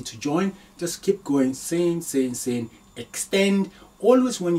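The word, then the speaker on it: سين: Okay, the next is, now very simple to pronounce, seen. It's a smiling, seen, seen, seen, seen.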